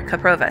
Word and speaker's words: Kaprova: Kaprova, so I did say it right the first time.